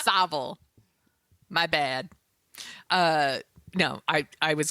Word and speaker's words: Savile: I used to say Savile like the first It's year not we were on the air. Savile. It's Savile.